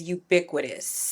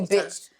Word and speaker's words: ubiquitous: The word of the day is ubiquitous. Oh, no. Pick a different one. No, that's the word of the day. Help her pronounce it a couple. Uiquitous.